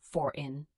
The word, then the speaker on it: foreign: Foreign, you say for-in.